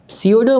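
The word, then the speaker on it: pseudo: দেখো তোমরা একটু সবাই মনোযোগ দিয়ে দেখো সিওডো নিউক্লিয়াসের সিওডোর মধ্যে পি কিন্তু প্রনান্সিয়েশনের সাইলেন্ট থাকবে। আমরা এটাকে কি উচ্চারণ করব? সিওডো নিউক্লিয়াস। এবং সিওডো কথাটার মানে আমরা বুঝি ছদ্দবেশ।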